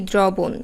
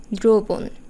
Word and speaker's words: দ্রবণ: অধ্বনির উচ্চারণ করব সংবৃত প্রায়ই আমরা বলে থাকি দ্রবণ আসলে উচ্চারণটি দ্রবণ এবার দেখা যাক শব্দের